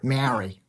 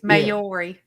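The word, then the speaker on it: Māori: Is that Mayori? Yeah. Mori or or badly pronounced. People usually say Mari. I'm from West Virginia. Mayori. It's Mayori. It's it's spelled M A O R I is the you know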